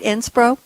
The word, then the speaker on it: SPRO: Am I pronouncing it right, SPRO?